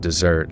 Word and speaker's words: desert: When I spoke of my desire to desert desert to desert. The bands with Yeah, like deserting them. But like it's so funny that it's spelled desert but it's pronounced dessert, like dessert.